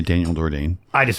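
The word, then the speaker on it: D'Ordine: It's an Italian name.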